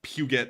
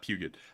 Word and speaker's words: Puget: pugot sound interesting I it's not pronounced that way I don't know how it's pronounced but it's not pugot uh but anyways yeah it's Puget or something like that but but